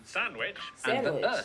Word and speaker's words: Sandwich: the cester in Cirencester, the W in sandwich.